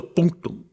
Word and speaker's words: punctum: The punctum the punum. The punctum. Yes. And And you have to pronounce it that way. Pronouncing punctum in English just doesn't have the same vibe.